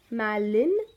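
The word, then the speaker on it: malign: school next one is melon melon gim we pronounce it as melon okay it's a verb which means to say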